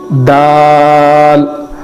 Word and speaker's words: دال: ہے وہ دال ہے۔ دال کے پڑھنے کا تلفظ ایسے ہی ہے جیسے ہم تا کو پڑھتے ہیں۔ تا جیسے زبان کے باہری والے حصے کو اوپر کے دونوں دانتوں کو لگانے سے تا ادا ہوتا ہے، ویسے ہی دال کا تلفظ بھی ہے، دال، دال، دال۔ اب اس کے بعد